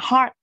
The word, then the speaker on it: heart: Mình không đọc là hurt nha, mình đọc là heart.